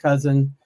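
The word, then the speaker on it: Kousen: So my last name is pronounced cousin like the relative even though it doesn't look like it.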